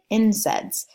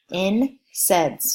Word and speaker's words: NSAIDs: they are also called NSAIDs or abbreviated incense so that is one abbreviation that you will need to know for the certification exam so commit that to memory in sense just like it is pronounced alright so I'm just